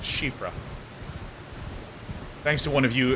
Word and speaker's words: Siofra: Because I know Siofra is actually pronounced Shifra.